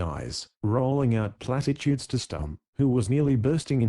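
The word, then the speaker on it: Stumm: grin why it's Colonel stump he cried he pronounced it like the first syllable in stomach very pleased to meet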